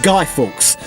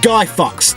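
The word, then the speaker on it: Guy Fawkes: 5th which is Guy Forks night which is pronounced guy Forks not guy Fox like how that uneducated the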